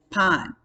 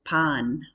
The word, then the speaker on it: pan: our third one is pon bread it looks just like the word pan in english but we're pronouncing it with the ah in spanish so pan forest queso cheese five